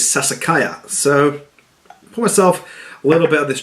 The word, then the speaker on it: Sassicaia: finish says it was a name I couldn't actually say until I researched it online and then found out how to say the name which is Sassicaia so myself well about